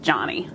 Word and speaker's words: Joni: My name's actually pronounced Johnny.